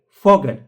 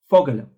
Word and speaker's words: Vogel: F Vogel like Fogel. Fogel.